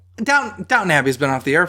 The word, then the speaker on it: Downton: Like, I legitimately thought it was Downtown Abbey. And then I saw it, like, written out. And I was like, oh, it's not downtown.